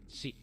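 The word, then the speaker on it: し: hook she she and if you're having trouble with that pronunciation just think of it like she as in like the pronoun she or her kind of thing like just she a little bit more abrupt at the end she a little bit more e sound she select the correct character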